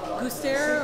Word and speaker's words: Gustaire: So you're playing with a band, I haven't heard of them before, but they're called Gustaire, or? That's the French pronunciation.